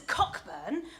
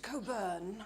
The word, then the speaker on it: Cockburn: It's written as Cockburn, but it's pronounced like the famous port. I see. Well, send Mr. Calais in, will you? Never mind. The doctor will see you now, Mr. Coburn.